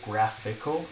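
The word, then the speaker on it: GraphiQL: WP breath I QL so graphical is how I pronounce it and this is a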